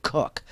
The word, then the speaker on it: Koch: brothers so this is a different it's they pronounce it kook but it's spelled K och somebody needs to